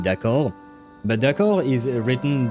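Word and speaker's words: décor: Uh the problem is that last that second d is um is silent and yet I feel like I can hear her saying it pronouncing it. Hence why you know those are the tiny details that I hear and that makes me think that whoever the voice actor is. She might not be native because like yeah no one pronounces the D in decor as I'm trying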